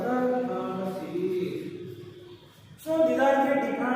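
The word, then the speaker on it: Pfund: Then next, fifth series is the Fund series. P is silent here, Fund series.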